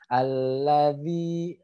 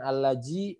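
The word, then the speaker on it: الذي: to back ratio adalah ujung lidah bertemu ujung gigi seri atas jadi bacanya alladzi seperti itu ya alefi bukan alladzi bukan al-razi tapi alladzi semito ya kemudian ini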